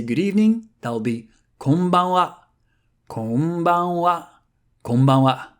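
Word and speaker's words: こんばんは: If you want to say good evening, that'll be konbanwa, konbanwa, konbanwa. Same thing here, ha is read wa for exactly the same reason, because the original sentence was konbanwa gokigen ikaga desu ka?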